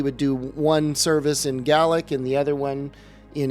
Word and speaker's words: Gaelic: So he was a Gaelic is how it's actually pronounced, Gaelic speaking Scottish guy,